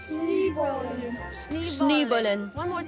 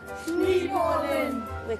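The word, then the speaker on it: Schneeballen: Je le prononce bien, Schneebollen? Schneebollen. Encore une fois? Schneebollen.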